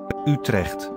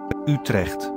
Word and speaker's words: Utrecht: So I am basing my pronunciation on the Dutch clip I found at Wikipedia, and I'm playing it now. Utrecht. Utrecht.